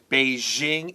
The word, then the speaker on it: Beijing: Our next sentence says, at book signing events in Beijing and Shanghai, I'm using the American pronunciation, Beijing and Shanghai, thousands of fans greeted her and treated her like a celebrity.